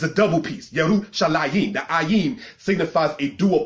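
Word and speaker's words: ירושלים: Because anything that's a dual plural in Hebrew has the ayim sound at the end of it. Yarushalayim, All right, translated as Jerusalem.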